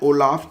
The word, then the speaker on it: Olaf: Actually में spelling में आपको बताता हूँ, OLAF, तो इसको ओलाफ पढ़ेंगे आप।